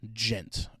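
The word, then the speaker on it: djent: One of the most important developments of this era is the term gent. And gent is spelled with a d in front of it. It's d j n t.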